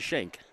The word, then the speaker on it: Shank: I've seen Abigail's name spelled that way and I've heard it pronounced skank and shank. I believe it is Shank.